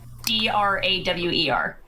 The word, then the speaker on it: drawer: How do you pronounce uh d r a w e r?